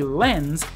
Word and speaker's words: lens: can all agree that the last part is a z sound like someone sleeping like Zed for Zulu not s for Sierra L NZ lens except